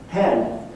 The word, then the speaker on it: hen: new personal pronoun hen pronounced like chicken hen hen so you don't have